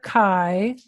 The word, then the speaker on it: chi: it so that letter Chi is another Greek letter and so this is called chi-square and it rhymes with Sky Square to help people read